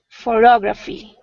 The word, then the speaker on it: photography: don't know photography no look at the dots the second syllable is bigger so it's a stress okay photograph and photography almost photo phot graphy